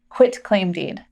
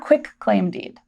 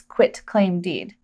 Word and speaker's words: quitclaim deed: We want to make sure we pronounce this quitclaim deed, not quitclaim deed. It's not called a quitclaim deed. That's a huge misnomer in the industry. The correct term is quitclaim deed.